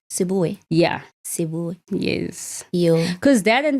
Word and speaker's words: Seboe: I'm like, guys, however you want to pronounce it. Yeah. I'll just stick with it. It's Seboe. Yeah. Seboe.